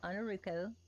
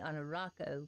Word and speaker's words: Ainurauco: my header um I'm on a ruko everybody calls me on a Rocco because they pronounce the a instead of the O but it's ruko uh Roux like blue and Co light toe but just call me